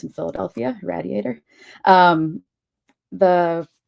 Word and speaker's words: Radiator: Um, it just came out in October from Radiator Press, which is how um it is pronounced in Philadelphia. Radiator.